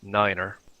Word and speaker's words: nine: like five f f/a and 9 is said as Niner now you don't have